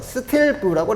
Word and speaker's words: 스틸브: 그래서 센티미터 형태로 우리가 표현하게 되면 요것을 SB라고 써서 스틸브라고 해요. 스틸브.